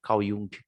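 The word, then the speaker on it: Jung: à questão espiritual né Caiu essa é a pronúncia no canal e um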